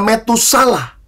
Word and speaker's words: Metusala: ini memberi nama anaknya Metusala. Nah, saudara jangan salah baca, jangan pakai bahasa Jawa. Kalau bahasa Jawa bacanya metune salah. Ya, keluarnya salah ya toh. Jangan, ini bukan bagian bahasa Jawa.